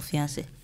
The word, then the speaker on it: fiancé: Both, you know, it's spelled differently, but it's, they are all pronounced the same way.